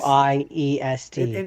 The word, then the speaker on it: Wiest: I don't even know if that's how that name is pronounced. It's It is. Wiest.